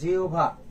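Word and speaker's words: জিহ্বা: মনে রাখবে হ এর স্থলে কি হবে? হ এর স্থলে ও বা রস হবে। আর ব এর স্থলে কি হবে? ভ হবে। তাহলে উচ্চারণটা কি হবে বলতো? যেহভা এটা হবে।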